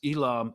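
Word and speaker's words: Eelam: Force declared the first ilam is that how you pronounce it uh Elam War perfect y okay okay uh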